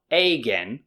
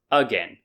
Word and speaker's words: again: tell me again see so it's not again it's again so these are some